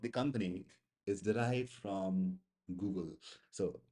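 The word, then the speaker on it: googol: company is derived from Google. So the pronunciation is actually same Google. It's not Google. People say Google. No, that is kind of very Indian thing to say. It's basically Google.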